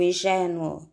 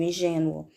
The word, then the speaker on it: ingênua: tem que ser acentuada como o som de ingênua é fechado nós devemos colocar o acento circunflexo porque eu não digo e Geno eu digo ingênua temos a palavra cárie